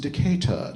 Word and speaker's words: Decatur: It's pronounced Decatur, darling. Decatur.